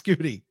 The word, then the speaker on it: Scooty: It's Scooty. So we got Scooty. Rhymes with Scotty.